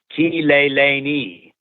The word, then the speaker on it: Kileleni: And I went, well, that's just like Spanish. It's pronounced the same way, the vowels. I speak Spanish. So Kileleni became our mantra, became our go-to piece.